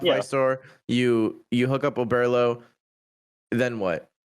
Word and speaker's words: Oberlo: Was So it Overload? no, Oberlo.